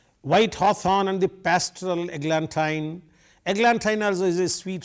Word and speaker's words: eglantine: In the beginning, when I read, I said eglantine, but now I am reading it as eglantine. I tell you the reason. White hawthorn and the pastoral eglantine.